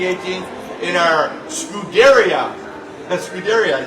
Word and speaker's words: Scuderia: That's Scuderia, I said it right.